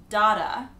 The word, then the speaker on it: data: So you might hear people say data or...